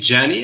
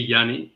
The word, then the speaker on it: Jenny: hello Jenny oh yeah like everybody pronounces my name jany and I get it it's because of the J but it's actually Yanni and I'm going to